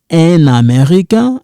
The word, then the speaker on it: un Américain: We don't pronounce it. Here we kind of link it. Un Américain.